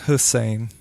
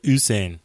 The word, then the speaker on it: Usain: Oh, not Hussein. I said Usain.